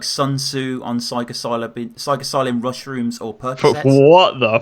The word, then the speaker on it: psilocybin: The shit you write is like Sun Tzu on psilocybin mushrooms or Percocets.